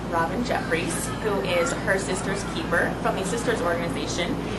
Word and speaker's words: Systers: Hi, yes, so Sisters, to start with, is spelled S-Y-S-T-E-R-S, and it's at sort of the lowest level.